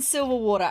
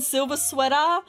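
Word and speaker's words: Silversweater: silver water married Scarlet okay silver sweater oh sorry I'm so sorry I was saying his name wrong the entire time Simeon silver sweater I'm so sorry I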